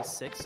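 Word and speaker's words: Seox: look up look up s-e-o-x you can also just say six I think that's another way to say his name here we go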